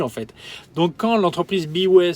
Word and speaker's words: B.way: Donc quand l'entreprise Biway, ça s'écrit comme ça, B.way, m'a contacté, j'ai dit mais qui sont ces gens-là quoi?